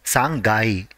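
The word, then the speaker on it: 三階: is ending with 3 the part corresponding to 3 has to be pronounced as sangai for example 13th floor will be ju sangai next for sixth floor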